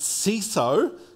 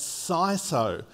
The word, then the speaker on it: CISO: do a quick vote if you think it should be pronounced C so can I see a show of hands oh okay okay and if you believe it should be pronounced sigh so can you give me a shot a sigh so wins excellent okay so